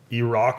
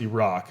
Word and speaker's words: Iraq: When they scored, I start screaming, Iraq is back, Iraq is back, which sounds fire, but I think it's pronounced Iraq and not Iraq.